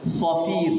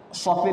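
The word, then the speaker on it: صفير: Jadi kalau bacanya pun harus itu safir, jangan safir.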